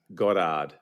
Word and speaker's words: Goddard: Uh, it is Godard. Okay. B. Basically, you take your O's and you make them sound as round as you can. Turn your Rs into H's and then you write.